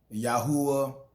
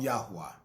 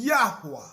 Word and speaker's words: Yahweh: Some people, some people pronounce it uh Yahwh and other, you know, but I call him Yahwa.